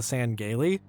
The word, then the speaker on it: Sangheili: There are some novels where the audiobook narrator calls them the Sangheili, because it's spelled with like apostrophes and stuff in there.